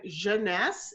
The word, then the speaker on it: Jeunesse: the connection with that and again it means youth and Jeunesse is how you pronounce it I know it's been